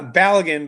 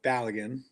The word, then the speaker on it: Balagan: Uh, Balagan, by the way, is the way to pronounce it. I'm not sure if I was close. Uh, but Balagan.